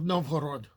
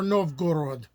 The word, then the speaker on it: Novgorod: the early days of novod or nov gorod depending on how you want to pronounce it but now we're going